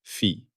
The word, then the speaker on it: phi: We name it fi pronounced fi.